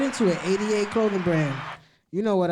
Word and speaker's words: Eightyate: yeah, 88, and it's spelled, but the 8 it's spelled ATE. ATE. So 8. Yeah.